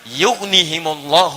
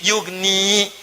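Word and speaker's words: يُغْنِ: Yanya dibuang. Padahal asalnya bisa dibaca begini, yugni. Tapi karena ada in ya dibuang. Jadi yugni cepat. Ada ya bacanya panjang yugni. Tidak ada ya baca cepat yugni.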